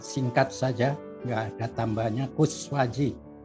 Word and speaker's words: Koeswadji: Ya, nama saya singkat saja, nggak ada tambahnya, Kuswaji, Koes. Jadi harus ejaan lama, DJ yang belakang, ejaan lama juga.